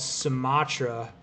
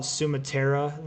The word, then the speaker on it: Sumatra: Bro, Ryan, if you go to Steamboat, there's a hole-in-the-wall restaurant called Sumatra, or some people call it Sumatera there because they don't know.